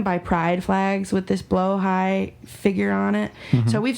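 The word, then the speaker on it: Blåhaj: plush from Ikea called the blo high which I only know how to pronounce because I am trans but it's it's spelled like blahaj B with some crazy umls and stuff and it's just a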